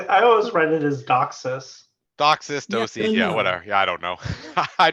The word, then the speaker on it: DOCSIS: boxes what's up well I pronounce it as dog says seems like DOCSIS is winning so I'll try and use that for the remainder of this